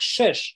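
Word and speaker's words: שש: На иврите слово 6, оно немножко созвучно с русским словом, оно читается как шеш, да, переводится шеш.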